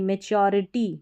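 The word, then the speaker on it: maturity: री टी याद रखिए मैच्योरिटी मैच्योरिटी मैच्योरिटी समझदारी तो यहां पर टी यू का उच्चारण ध्यान रखिए टू नहीं पढ़ना है तो मैच्योर मैच्योरिटी सच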